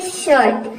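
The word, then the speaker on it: shirt: के rule number ू यदि आई के बाद आर आ जाए तो आई को हम अ प्रोनाउंस करते हैं जैसे कि देखिए यहां पे एग्जांपल है शर्ट तो आई के बाद यहां पे क्या आया है आर आया है ए ए एस एच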